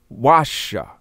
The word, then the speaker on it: washa: the previous lesson so the key swahili word for basha would be washa and it means to